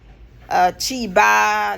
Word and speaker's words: Shiba: would say, "Oh, they not even try to pronounce Shiba Inu in a good way. It's Chiba."